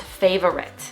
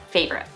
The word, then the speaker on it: favorite: say this word as favorite with three syllables but in american english we pronounce it as favorite just two syllables plus americans just like